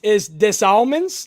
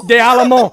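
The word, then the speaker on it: Des Allemands: So it's des Almonds? That's how you pronounce.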